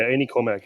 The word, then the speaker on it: Ainy Cormac: I'm here with um is it pronounced Cormarmac? Yeah, Annie Cormarmac.